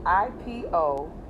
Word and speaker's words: Iponri: Ipo, it's spelled Iponri, iponri. Ipo means big toe, and Ori means head.